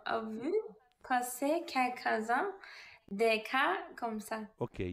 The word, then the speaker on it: cas: cas. Don't pronounce the S at the hand.